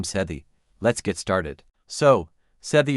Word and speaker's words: Sethe: The pronunciation that Toni Morrison confirmed is SEH-thuh rhymes with Beth-uh. Let's break it down. SEH, like the beginning of seventh-thuh, like the thuh sound in mother.